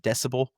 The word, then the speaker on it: DCBEL: Um, Volvo and Polestar are partnering with a company called, quote, DCBEL, which I presume is supposed to be pronounced decibel, to provide hardware for this.